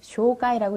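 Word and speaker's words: 紹介: 소개하다라는 말의 소개는 한자에서 온 발음이기 때문에 소발음이 쇼, 개라는 발음이 카이. 그래서 소개를 쇼가이라고 읽어요.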